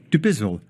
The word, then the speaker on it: Dubizzle: Thoughts there of Fibha Ahmed, Director of Sales, deep breath so I say it properly, Dubizzle and Bayut.